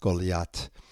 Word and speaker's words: Goliath: Goliath, pronounced Golat, descended from that ancient race of giants, the notorious Nephilim.